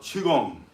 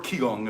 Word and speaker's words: Qigong: Think of this as a form of Qigong. Or Qigong if you want to call it Qigong. Qigong, Qigong, just different pronunciation.